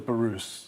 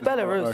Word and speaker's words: Belarus: just check with you both are we pronouncing Belarus correctly yeah what were you thinking I thought it was barus no it's Belarus okay sure Belarus I heard MP pronounce it that way once that must be